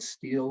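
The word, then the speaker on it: stele: called the mesha steel this s-t-e-l-e is a monument with inscriptions that's pronounced in different ways but I'm going to call it steel which is also called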